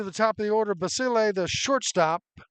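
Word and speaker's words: Basile: I keep saying basil. B A S I L E. It's basil is the way the PA guy keeps reminding me. I keep saying it wrong.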